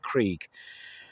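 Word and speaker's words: Crûg: how you'll see it's spelled but it's actually pronounced Krieg and it's I think they're in North Wales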